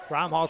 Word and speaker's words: Bromhall: Outlet pass to Bromhall. Bromhall takes it inside.